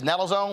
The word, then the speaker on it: naloxone: overdose prevention through the distribution of, I guess, naloxone, is that how it's pronounced? Naloxone.